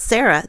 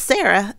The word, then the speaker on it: Sarah: Like the way my name is spelled, Sarah, they pronounce it Sara there. So it's a completely different name practically there. If you have no H, it generally is pronounced Sara.